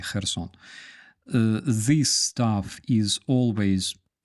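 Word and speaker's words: Херсон: This stuff is always read as Kha, like in Хортиця or Kherson. We don't say Kherson, no, we say Kherson.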